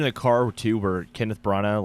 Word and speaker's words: Branagh: Branagh.